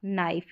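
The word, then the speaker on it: knife: Pipe ripe swipe और नाइफ यहां पर के जो है वो साइलेंट है।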